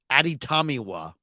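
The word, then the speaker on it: Adetomiwa: you no it's no it's exactly how it's spelled too it's a-d-e-t-o-m-i-w-a ADI tamiwa adabare yeah like that's it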